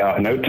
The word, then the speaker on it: Ikenga: Hi, this is Ikenga II.